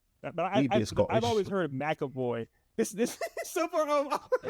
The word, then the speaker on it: McAvoy: I mean, looking at the spelling, it would be McAvoy. McAvoy, yeah. Technically. Plus he's Scottish too, so it sounds more Scottish when you say it like that versus but American pronouncing it McAvoy.